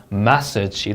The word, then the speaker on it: message: 그 다음에 message. 이름절 강세입니다. 자, 그러면 이거를 많은 학생들이 message라고 읽어요. 자, 이 음절에 강세를 넣으면 여러분 채점자는 어떻게 인식하냐면 massage로 듣습니다. 여러분 마사지라고 하는 거죠? massage로 들어요.